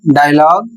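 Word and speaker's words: dialogue: जिसमें यू का उच्चारण नहीं होता है।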